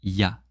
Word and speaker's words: il y a: say il y a, but we say ya, ya. Il y a déjà 1 an, il y a 2 jours, il y a 2 semaines. Ya, ya, ya. It's really easy actually to pronounce.